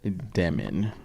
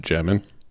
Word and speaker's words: Demin: Uh pulled that Egor Demin rookie of the year. it's actually pronounced Demin.